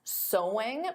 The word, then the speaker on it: sewing: Because of course the pronunciation is the same as so. There's no sewing though adding an ing. So sewing is the activity but the pronunciation is the same as the word so.